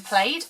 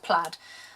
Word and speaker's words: plaid: to say because I call it wrapped in plate and that's not how you pronounce it and as sad as I am I did actually google it and yes people were correct it is pronounced plaid so I'm just going to call it wrapped